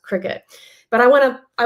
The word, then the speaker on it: Cricut: for this Cricut Machine which I pronounced cry cut for so long I did not know it was pronounced Cricut but I want to